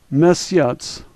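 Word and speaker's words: месяц: TS sound like tsunami let's say this word miss yachts miss yachts the first letter is somewhat familiar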